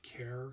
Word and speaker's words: char: I think I'm just going to call it care because you're basically saying the first part of the word character, and when you say character, you say care and then actor, care, actor.